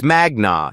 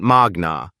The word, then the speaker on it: magna: You said magna cum laude Harvard Law in your introduction, but you pronounced magna wrong. It's magna, not magna. Latin stress patterns fall on the penultimate syllable when it contains a long vowel.